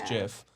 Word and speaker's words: GIF: but I think it's gif I think it's no I think it's the inventor said the actual pronunciation it's Jeff okay everybody calls a